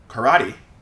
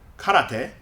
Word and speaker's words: karate: speakers out there if you've wondered why Americans pronounce it as karate instead of karate now you know and actually same with another